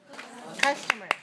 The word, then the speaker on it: customer: Customer. How many syllables do you hear? Customer. Customer. 3 syllables, right? Where's the stress? 1. First one.